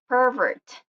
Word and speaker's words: pervert: So on the noun part, you will see that the acute accent on nouns are stressed or marked the first syllable, like pervert, subject. And with the verb, the stressed syllable is on the second syllable, or yeah, in the second syllable, which is like for birth and subject.